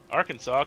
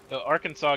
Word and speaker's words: Arkansas: Arkansas gets it pronunciation from the French.